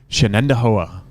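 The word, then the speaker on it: Shenandoah: And lane six, Shannendoa.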